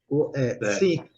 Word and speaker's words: think: Think, você fala think com a língua entre os dentes, né?